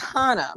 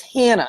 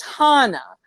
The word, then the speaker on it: Hannah: german names you can get and um it's pronounced hana but if you go to like england or like australia or anybody that's you know obviously like english speaking they think it's hannah and i'm like no it's hana and what's